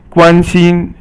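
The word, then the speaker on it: 关心: 关心 is all first tone, and it means to be concerned about someone.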